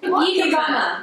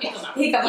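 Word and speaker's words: jícama: Hikama. Hikama. Yeah, it's spelled like Jemima or something.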